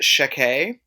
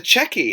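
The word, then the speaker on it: Checquy: and you're like, "Yeah, this is how it's pronounced." And I always thought it was sheke. Mhm. And then people kept saying, "Oh, the checky."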